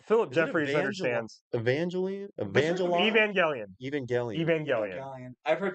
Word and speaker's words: Evangelion: It's Evangelion. It's funny to Evangelian though. It's so funny to pronounce it wrong.